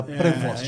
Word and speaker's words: Prevost: A pronúncia é essa, né? Prevost. É isso.